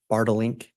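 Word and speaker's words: Bartelink: It's Bartlink? You pronounced it perfectly.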